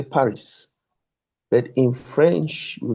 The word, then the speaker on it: Paris: You can see that P, A, R, I, S, but the S is not hard, is silent. So we say Paris.